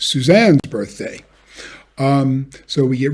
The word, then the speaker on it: Suzanne: happy birthday dear susan but in suzanne the stressed syllable is on the second syllable and we need to